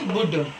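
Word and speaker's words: would: डी आया यहाँ पे, तो हमारा एल साइलेंट होगा, तो इसे हम पढ़ेंगे बुड।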